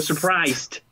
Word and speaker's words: surprised: Cierto que suena ahí la D final, ¿cierto? Surprised.